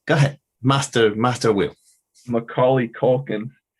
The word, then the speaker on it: Macaulay Culkin: ahead master master will macaulay culkin and then ollie is sort of like oh like the skater move right and all that